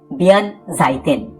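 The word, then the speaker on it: 弁財天: আবার জাপানে এই উচ্চারণটা একটু বদলে হয় বিয়ান জাইতেন।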